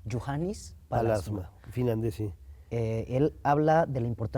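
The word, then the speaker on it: Juhani Pallasmaa: un arquitecto finlandés que se pronuncia, ¿cómo se pronuncia? Johannes Palasma. Juhannes Palasma, finlandés, sí.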